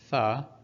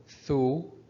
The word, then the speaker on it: ث: So again, Tha can be pronounced as Tha or Thu or Thi, depending on the haraka above or under it, whether it's a Fatha, Dhamma, or Kasra.